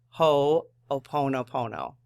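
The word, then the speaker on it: Hoʻoponopono: forgiven is called aono hooponopono and she has the pronunciation right there so ho ho o in all caps which is not really all caps but ho oono Pono the ancient Hawaiian practice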